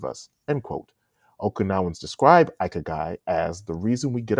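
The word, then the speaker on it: ikigai: Pronounced Ikagai is roughly translated to, quote, reason for being.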